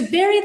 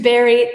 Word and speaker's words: bury: Um even though it's U R Y, it's pronounced like strawberry, blueberry. So, it sounds more berry than Oh, sorry. Yes, than berry with a U. To bury the hatchet.